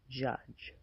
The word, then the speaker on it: judge: The final sound of the word judge is also j. And this may be the trickiest part when trying to master pronouncing this word. As you can see, the j sound is being represented here by a different combination of letters d g e.